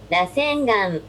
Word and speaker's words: Rasengan: I want to see how that's pronounced. Rasengan.